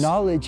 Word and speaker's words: knowledge: was going to sneeze knowledge has a silent k and sometimes it's okay